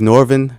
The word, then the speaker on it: Norvin: because people always ask how do I pr pronounce my or spell my first name so my my name is norvin first name is n o r v